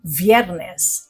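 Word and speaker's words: viernes: Pero dahil pino-pronounce ang letter V na B sa Spanish, ito ay biyernes. Hindi biyernes.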